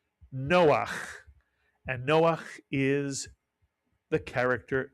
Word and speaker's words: Noah: Two vowels, two syllables, Noah.